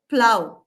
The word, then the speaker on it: plough: Then in this word, PLOUGH, it sounds as plow, where it rhymes with cow.